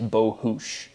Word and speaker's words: Bohus: Again, my own ignorance, but the actual correct ethnic pronunciation of my last name is Bohus. It's Hungarian.